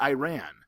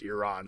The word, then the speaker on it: Iran: He goes, it's not Iran. Here in the United States, we want to say Iran because that's what it looks like it spells, but it's pronounced Iran.